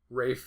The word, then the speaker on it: Ralph: Voldemort to me so does it ever bother you that Rafe I doesn't pronounce his name Ralph uh no cuz not that uncommon in Britain I mean it's still more common to see a pronounced Ralph but like there's that